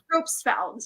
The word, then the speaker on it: Propfeld: I would love to leave that Valerie Propfeld, I think, as I said it right. Propfeld? Propfeld, yes. Yeah, is incredible.